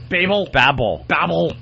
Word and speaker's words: Babel: Babel? Babel.